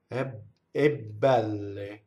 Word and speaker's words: belle: So what a strong monosyllable will do is cause the next word, if it has a consonant, to double. So very softly, we would say bbɛlle. See? Bbɛlle. She's the double B.